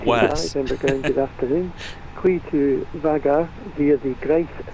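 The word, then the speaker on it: Vágar: I think, I've been saying Vagar, and I think it's Vagar because there's an accent over the A. And this Edinburgh controller sounds like an intelligent man, and that's how he pronounces it, so.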